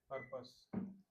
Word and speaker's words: purpose: ठीक है, और ये PURPOSE जो वर्ड होता है, उसको कैसे प्रोनाउंस करेंगे? पर्पस। हाँ, पर्पस, है ना। पर्पस या पर्पस। रा उतना ज़्यादा हार्ड नहीं आएगा।